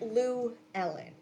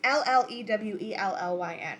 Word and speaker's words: Llewellyn: Llewellyn is also because really it's not like Lou Ellen, it's the way it's spelled, it's like 2 L's. It's Llewellyn.